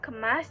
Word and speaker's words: kemas: Kemas juga menggunakan e pepet. Jadi, dibacanya adalah kemas.